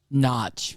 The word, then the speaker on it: Norwich: Jumping right off the bat, Southampton and Norwich have a barn, or how do you pronounce it, Mel? Notch.